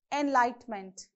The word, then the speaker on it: enlightenment: Similarly, enlighten, enlightenment, you have on the same second syllable.